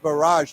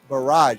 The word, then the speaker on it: barrage: yeah confirmed a rocket barrage now some people say barrage some people say bar yeah I think it's barrage barrage sorry barrage so the E emphasis barrage it's on the second syllable you know what a